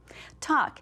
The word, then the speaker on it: talk: Talk.